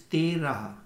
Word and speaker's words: Tera: In Hindi it is Terah, T-E-R-A-H. And in Punjabi this word, Gurmukhi, this word is pronounced as Tera, T-E-R-A, Tera.